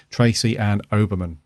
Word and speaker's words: Tracy Ann Oberman: I always get that name wrong. Tracy Ann Oberman. I always say Uberman, don't I? It's an Oberman. Is it Oberman? I think it is. It is Oberman, I think.